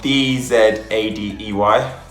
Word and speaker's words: Dzadey: So it's actually spelled D-Z-A-D-E-Y. So it's Dzadey, but it doesn't look like it's spelled as that.